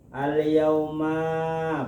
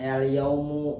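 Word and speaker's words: الْيَوْمَ: Al-yauma, pada hari ini. Akmaltu lakum dinakum, aku sempurnakan agama kamu. Jadi bacanya al-yauma, bukan al-yaumu, bukan al-yaumi, al-yauma.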